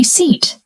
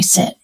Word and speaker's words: seat: louder, "This is my sit." Everyone around starts laughing. The correct word is seat, not sit. Let's practice. Seat. Seat. Seat. Now compare. Sit. One is a noun seat. One is a verb sit.